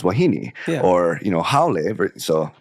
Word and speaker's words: wahine: and then you realize why I'm telling you it's wahine versus wahine, or you know haole.